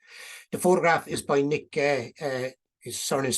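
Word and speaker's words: Geh: The photograph is by Nick Gay. His surname is spelled G-E-H, lives in Gort, and a lot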